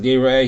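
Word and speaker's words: יֵרָאֶה: Re'iyah as Yeroeh, so it's spelled Yera, he should see, and it's pronounced Yeroeh, he should be seen.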